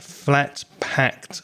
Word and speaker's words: flat-packed: If you have a consonant at the end of the verb, like pack, and then you add the ed, it's a t sound, a t sound at the end. So it's packed. So you have to move the tongue across your teeth to get that sound.